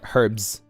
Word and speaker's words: herbs: Herbs. It's not herbs. is herbs, right? That makes sense. Can I just Can I just say a herbs from now on? The H is silent.